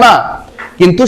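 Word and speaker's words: knock: কে উচ্চারণ করে আসবে না, কিন্তু সেটা হবে না। ঠিক আছে, সাইলেন্ট হয়ে যাবে, নো। আবার দেখো এই কে কে সাইলেন্ট করলে হবে নক। কি হবে? নক।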